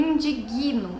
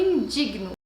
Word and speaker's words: indigno: E muitas pessoas dizem eu me indigno, mas na verdade esse G é mudo, então você não diz eu me indigno, você diz eu me indigno.